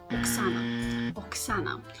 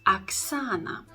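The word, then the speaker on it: Оксана: first always pronounced as Aksana so the stress goes on the second syllable and our next example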